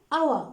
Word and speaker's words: hour: does 150 miles an hour or a hour what do you think an hour okay why because we don't pronounce the h we will say an